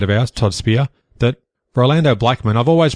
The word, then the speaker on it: Rolando Blackman: In other results, Rolando Blackman, another great friend of the show, almost implied,